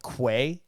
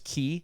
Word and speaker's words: quay: wrong cir yeah um it's like key it's spelled quay quay yeah but it's key it's it's like something